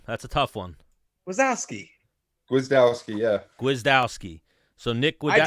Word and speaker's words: Gwiazdowski: Nick, how do you pronounce that last name? That's a tough one. Wazowski. Gwiazdowski, yeah.